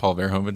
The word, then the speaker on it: Paul Verhoeven: Paul Verhoeven, yep.